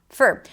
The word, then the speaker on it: for: I turned the or in the word for into a schwa, for, to allow other words to stick out.